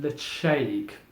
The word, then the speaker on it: Ledaig: painted it's actually a written lady but it's pronounced the shake okay so that's very important as you can